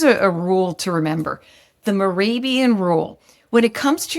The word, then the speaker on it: Mehrabian: Yeah, Mehrabian rule.